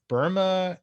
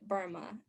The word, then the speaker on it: Burma: colony they called it burma the name kind of gradually gradually changed burmese people they pronounce it like there's no like r or things like that but kind of like obama yeah with the with the